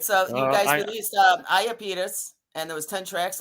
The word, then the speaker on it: Iapetus: But okay, how do you pronounce it? Let me help you. Iapetus. What is it? Iapetus. Iapetus.